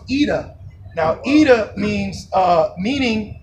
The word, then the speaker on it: Ida: yeah so the that it's called ida but it's pronounced eda now eda means uh